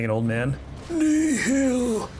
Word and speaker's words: Nihil: It's not the correct way to say Nihil. Sorry. That's how Mole says it. Nihil. You have to say it like it's your last words ever.